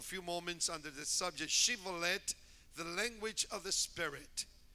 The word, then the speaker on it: Shibboleth: I want you to notice the difference, Shibboleth with the H and then Shibboleth without the H.